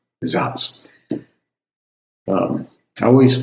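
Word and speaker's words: Saaz: a a z and in German that spells z because the s makes an z sound and the z makes a ts sound. zots.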